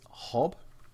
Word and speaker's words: HoBbe: seen in Starcraft 2 it is hob I'm sorry I pronounced that hobby before I was just sort of assuming based on what I